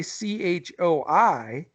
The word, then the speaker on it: Choi: us figure this one out I I say CH o I is pronounced Choi and my man Andrew and I